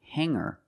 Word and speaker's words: hanger: When I change these words with er, I don't pronounce the g sound. It's just the nasal linked together with the Together, hanger, hanger. There's no g sound.